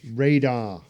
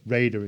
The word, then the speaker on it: Rader: we're gonna rock dennis radar no raider is pronounced dennis raider again normal kid shy